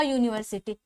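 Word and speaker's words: university: Pronounce करते हैं तो यहाँ पे जो साउंड आता है किसके साउंड में आता है, य के साउंड में आता है।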